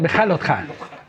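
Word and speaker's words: בהעלותך: Y bueno, pues vamos a empezar sin más preámbulos con nuestra parashá, que quedamos que se pronunciaba Beja Lotja, ¿verdad? Beja Lotja.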